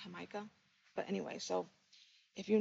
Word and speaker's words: jamaica: know they call it hamaika um it's mel it's spelled jamaica but they pronounce it hamaika but anyway so if